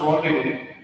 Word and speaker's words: rendezvous: Yeah, but it's pronounced rendezvous.